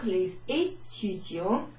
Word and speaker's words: les étudiants: Voici la 6e vidéo pour les étudiants, for the students, qui, who, étudient, who are studying, le français pour les débutants. Alors, tous ensemble. Voici la 6e vidéo pour les étudiants qui étudient le français pour les débutants.